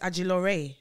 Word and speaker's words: Ajilore: name is actually agilore that's what it is what people like to say no it's not oh so it's not actually pronounced no it's actually pronounced the way i'm saying it where's nigeria it came